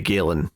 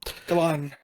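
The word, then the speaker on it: Galán: Doyle, and from art by Fran Galan, or maybe Galen, maybe you pronounce that. Yeah, I know there's an accent on the last A, so I think you're right the first time. Okay. Galan.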